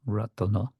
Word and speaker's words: Ratana: Again, the word Ratna has been extended to give us an extra syllable, Ratana.